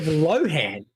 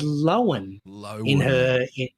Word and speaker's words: Lohan: Instead of Lohan, as pretty much everyone's been saying it, Lindsay pronounced her surname as Lohan.